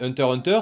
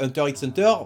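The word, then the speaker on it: Hunter × Hunter: takiro c'est Space X family e la base Hunter Hunter c'est pas Hunter x Hunter commencez pas à faire en mode oui non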